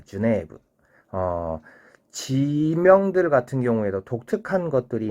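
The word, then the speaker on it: ジュネーブ: 자, 여기서 이제 주네브는 제네바를 주네브라고 합니다. 주네브.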